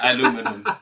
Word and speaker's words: aluminium: Aluminium. This is the British one. Okay, this is Yeah. a reference now. Yeah. Aluminium. The fact is, Americans can't pronounce it. Is, you know. No, aluminum.